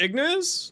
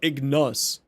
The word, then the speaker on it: Ignis: What happened to my Ignis Riven? Did I just spell it wrong? Yeah, we got 10k subs on the YouTube. I did? Oh, it's Ignis, not Ignus.